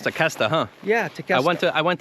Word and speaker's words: Tequesta: It's pronounced Tequesta, huh?